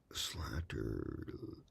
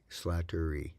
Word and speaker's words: Slattery: back DT Ranger uh slatter slatter e Slattery okay sorry Susan I keep saying your last name wrong uh DT Rangers said